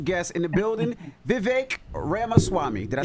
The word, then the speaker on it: Ramaswamy: said r r Swami yeah you got it Ram Swami well good morning good to see you guys